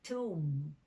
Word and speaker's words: tomb: american vowel sounds like you often hear toe when it should be tomb you would like